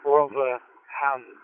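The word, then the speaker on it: Rotherham: It's Tony Tango Oscar November Yankee and I'm located in uh we call it Robum, but it is pronounced Rob Ham or R O T H Romeo Oscar Tango Hotel Echo Romeo Hotel Alpha Magic.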